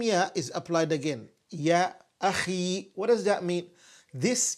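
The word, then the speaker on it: أخ: Ya akhi.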